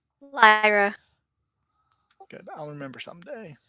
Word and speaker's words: Lyra: misses lyra you're up lyra how did we decide we pronounced that not like the coin right lyra okay i'll remember someday